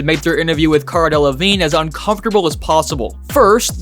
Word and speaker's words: Delevingne: The hosts of Good Day Sacramento did everything they could to make their interview with Cara Delevingne as uncomfortable as possible. First, they mispronounced her name.